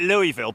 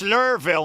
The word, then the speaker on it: Louisville: It's pronunciations, isn't it? Yeah. Yeah. It's like Louisville, isn't it? Everyone calls it Louisville, but the locals at Louisville are all, "It's Lurville, man.